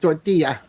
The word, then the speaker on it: tortilla: understand it my God tortilla just think of ya at the end tortilla yeah yeah now I